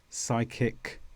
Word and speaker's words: psychic: Now for the combination of words PSY. How do we say this? Well, we usually say sigh. The P disappears completely and we say words such as psycho, psychic, psychology.